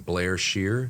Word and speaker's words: Blair-Scheer: yeah so how do you say your last name Blair Shear Blair Shear it's a hyphen in it okay